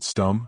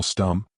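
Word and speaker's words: Stumm: "Why, it's Colonel Stum," he cried. He pronounced it like the first syllable in stomach.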